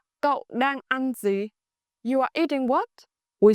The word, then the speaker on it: gì: Gì in English mean what. In Northern dialect, gì is pronounced with a clear z sound, like gì is incredibly